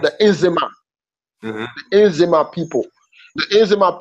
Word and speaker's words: Nzema: And Nzima is spelled Nzema. Nzima.